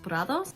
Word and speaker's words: Prados: It was founded by Cici Meadows, and Prados is actually meadows in Spanish, so that's why I assume the brand is pronounced Prados.